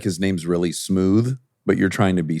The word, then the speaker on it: Smoove: like his name's really smooth, but you're trying to be super down. So smooth. Well, that's what it sounds like. But it's spelled smooth. It is with a V.